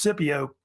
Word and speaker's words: Scipio: And Scipio Africanus, sometimes pronounced Scipio, was really the main